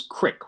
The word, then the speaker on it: Crick: the left british scientist francis crick which rhymes with prick and did i say